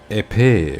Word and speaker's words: épée: So the word would be épée, which means sword. Un épée, and the plural is épée. Once again, you don't pronounce the S at the end, right?